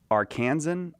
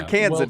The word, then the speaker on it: Arkansan: Arkansan or Yeah, Arkansan?